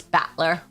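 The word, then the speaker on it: Battler: That's how you pronounce batler.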